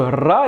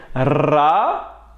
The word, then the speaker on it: ر: Faites attention de ne pas confondre avec le R français. La lettre Ra est plus similaire au R espagnol qu'au R français. Donc, nous allons dire Ra, Ri et Rou.